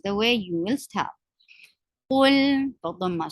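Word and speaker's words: قُلْ: Qul, فضم circle your lips. This is a heavy letter.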